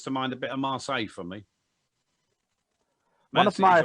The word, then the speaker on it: Marseille: It's Marseille.